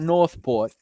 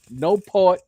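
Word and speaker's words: Newport: to pronounce that properly it was not northport it was no pulp no pope no port v no pope va right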